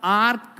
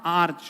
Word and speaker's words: arch: इसका प्रोनाउंसिएशन पहली बात आर्क नहीं होगा, आर्च होगा। क्या होगा? आर्च।